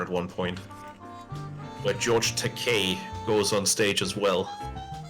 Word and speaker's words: Takei: It's Takei, you know, like toupee.